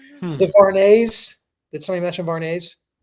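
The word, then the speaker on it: Vuarnet: Did somebody mention varnet? I don't know what that is. You don't know what varnet is?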